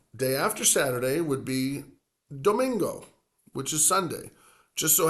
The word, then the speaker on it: domingo: So domingo, another 3-syllable word. So again, sábado, 3 syllables. Domingo, 3 syllables. So the weekend days, both, they have 3 syllables.